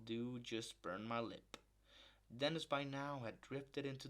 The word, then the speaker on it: Dennis: but instead it was Dennis from down the hill whose name everybody pronounce to rhyme with penis appearing even more disoriented